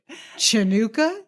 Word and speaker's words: Hanukkah: of Lights of hanuka CHA chanuka say it like a New Yorker ready Han Hanukah yes